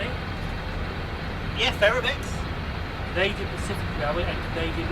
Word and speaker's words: Ferromex: Yeah, Ferromex.